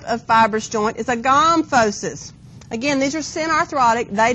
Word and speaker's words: gomphosis: If you want to pronounce it gomphosis instead of gomphosis, it may help you know where it is, okay, because teeth are in your gums.